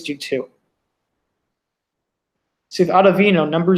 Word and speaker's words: Ottavino: they're going right to Ottaviano, who they trust. Maybe that's Ottavino, that's how you pronounce his name.